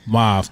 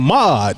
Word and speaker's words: mauve: Mauve. Mauve. Mauve. Oh, I've been saying it wrong. Yeah. I've been saying mod. It's mauve.